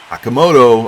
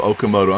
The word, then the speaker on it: Okamoto: But Akamoto Okamoto, I'm sorry. I learned how to say his name right.